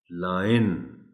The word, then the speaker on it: lion: This word is pronounced as lion.